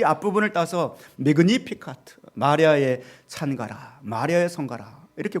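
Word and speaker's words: Magnificat: 매그니피카트 이렇게 되어 있어요. 발음의 액센트가 니에가 들어있더라고요. 매그니피카트, 바로 마리아의 성가.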